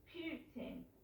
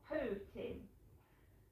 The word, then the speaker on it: Putin: was sat there i did notice that it's putin not pooting right so watch the bbc news i had